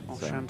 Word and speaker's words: Oshan: Oshan Thomas. Beautiful Welsh name. No H to give you that sh sound, but I can assure you, Oshan is how it's pronounced.